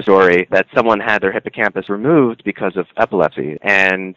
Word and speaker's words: hippocampus: you mentioned the hippocampus did I say it right hippocampus yeah hippocampus so the O is kind of like not emphasized so the hippocampus which